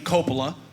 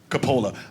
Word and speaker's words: Coppola: They pronounce their name Coppola. We pronounce it Coppola. Actually, both ways are correct because it's a very common last name, Italian last name, very common Italian last name.